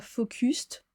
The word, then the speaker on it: focus: Attention la prononciation. On dit pas focused, on dit pas le u comme un u mais comme un quasiment.